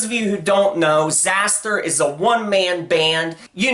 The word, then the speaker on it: Xasthur: I've seen it pronounced both ways. I've always said Xasthur myself, so that's how I'm going to pronounce it in this video.